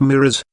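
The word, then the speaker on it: mirage: marage m i r a g e is pronounced mirrors said valency shortly picking up her tea and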